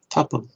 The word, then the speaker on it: tuple: Tuple. Tuple diye okunuyormuş.